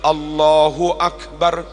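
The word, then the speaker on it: الله أكبر: bacanya enggak boleh salah beberapa contoh bacaan Takbir yang salah Allahu Akbar salah bar dibaca panjang itu salah dan maknanya beda harusnya Allahu Akbar Allahu Akbar tapi ada yang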